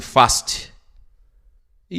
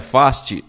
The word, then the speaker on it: Fast: chamava Clarice fast e eu sempre dizia faste com sutaque britânico mas concluí que ele tinha o direito de decidir Como queria que seu nome fosse pronunciado então fui junto com ele e pronunciava faste pronúncia americana não é nada fácil